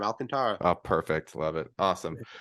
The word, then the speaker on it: Alcantara: How is it? I did I say it right? You said it right the first time, Alcantara.